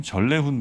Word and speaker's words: 전래훈: 전래훈 부장님이라고 해야 될까요? 자음 동화로 보면 전래훈이 맞는 것 같긴 한데. 그래도 네, 니은으로 조남이시니까 그렇죠? 네. 전래훈으로 네. 네, 이렇게 발음하도록 하겠습니다.